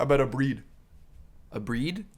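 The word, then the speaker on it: abrir: A breed? A breer is like how it's spelled.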